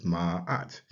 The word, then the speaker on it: Ma'at: It's transliterated as Ma'at. We tend to put the break in between, the apostrophe in between the at.